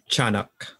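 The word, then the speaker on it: Tiyanak: the diana yeah okay it's like cha instead of tia okay i'm gonna pronounce it properly here so chanak yeah one that's the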